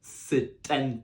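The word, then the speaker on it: setenta: a single letter so if we go back to how pronounced 60 which was sis send that 70 is sit end that sit bend that so make sure you really pronounce that T to make sure you're not getting confused from your 60s and your 70s then for 80 we've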